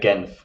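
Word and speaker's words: Genf: pronounce it in so in english it's geneva uh french it's uh jeunev and we in german because i'm in the german speaking part in near zurich yeah and we just say genth so it's different ways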